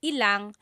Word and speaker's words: ilang: When there's ilan ang, it's usually put together and it's ilang.